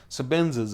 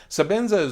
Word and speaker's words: Sebenza: bought my first ten so Benzes and didn't know so Benson so maybe that's why I keep saying it right sebenza Zulu for work its